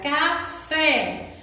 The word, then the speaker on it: café: Nós teremos que classificar as palavras em oxítona, como a palavra café. A sílaba mais forte é fé.